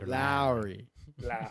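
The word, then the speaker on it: Lowrey: Lowry.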